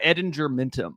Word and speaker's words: Ettingermentum: How you pronounce that? Yeah, Edinger Mintum.